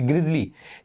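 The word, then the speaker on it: grisly: हालांकि इसी same pronunciation का एक दूसरा वर्ड होता है दैट इज ग्रिसली। सो ग्रिजली ही पढ़ते हैं इसको भी, ग्रिजली।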